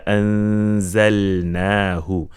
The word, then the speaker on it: أنزلناه: Inna anzalnahu. Over here, the lam, this silent lam should be clear. Do not make it noon.